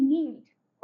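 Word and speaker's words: kneeled: and said her prayers के N double E एल ई डी नील्ड okay like this you have to complete the blank by writing के over there now the next thing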